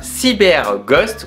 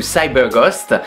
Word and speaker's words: CyberGhost: une plateforme de VPN qui se nomme CyberGhost ou CyberGhost, comme on peut le prononcer à la française ou à l'anglaise plutôt, qui d'ailleurs devient de plus en plus connue.